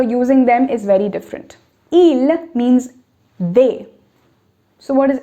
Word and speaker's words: il: Il looks like il. Now I'm not saying il looks like ils, okay, because the last letter is not pronounced. Both of them are pronounced the same way.